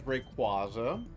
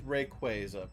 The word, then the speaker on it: Rayquaza: and that they had Rayquaza on there because a lot of people, myself included, back in the day, pronounced it as Rayquaza. Uh, but it is Rayquaza per the Pokemon Company.